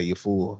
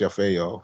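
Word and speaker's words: Yafeu: Some people say you fool, some people say Yafa. I've heard it all up until this point, but it's pronounced Yafeo, and of course, last name.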